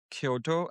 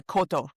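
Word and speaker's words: koto: how was learning the Kyoto? Am I I hope I'm pronouncing that right. It's there is a city in Japan called Kyoto, but the instrument has no Y. It's a Cotto.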